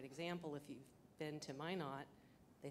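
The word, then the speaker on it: Minot: bachan's a great example if you've been to my not they say why not my not freezing's the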